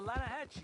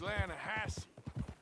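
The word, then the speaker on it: Lannahechee: trout you mean Atlanta no no no the Lana hatch it runs right near here yeah but it's pronounced Lana Hass why is everything in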